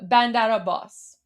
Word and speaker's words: Bandar Abbas: So, bandara bandara boss. There you go. Bandara boss. Imagine if if you can say the last part, pronounce it as like a boss.